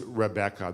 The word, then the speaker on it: Rebecca: of the word was Rebecca that it was three syllables not two syllables it seems that the